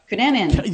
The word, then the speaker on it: Cunanan: I had a request actually, not to throw this right on you, but we had Andrew Phillip, and let me pronounce this. Cunanan. Cunanan.